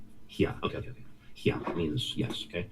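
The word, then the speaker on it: হ্যাঁ: Pronounced haya. Pronounced what? Hia. Hia. One quick syllable. Hia.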